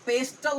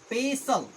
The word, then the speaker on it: pestle: तो इसको आप पेस्टल नहीं बोलिएगा।